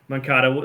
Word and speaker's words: Moncada: Dominic Fletcher, Andrew Vaughn, Yohan Moncada. That's right. Moncada.